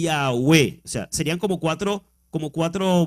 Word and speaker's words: Yahwéh: y pronunciar en proclamar es en hebreo y yagüe serían como cuatro como cuatro vocales y ya v esa es la pronunciación yagüe entonces se escribe desde el hebreo con las